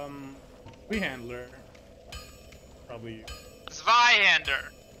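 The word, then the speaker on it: Zweihänder: um we handler probably zveyander this is german we're not dry ma'am look as far as i'm concerned it's pronounced zui handler and anyone who uh says otherwise is just dumb swedish handler okay of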